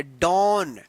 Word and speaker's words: dawn: देखिए यहाँ पे DAWN, इसको क्या पढ़ेंगे, डॉन। डॉन पढ़ेंगे, डॉन।